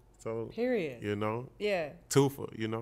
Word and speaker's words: Toofa: So Toofa is like T-O-O-F-A, like two for one. That's how you say it. Too fat, take away the T.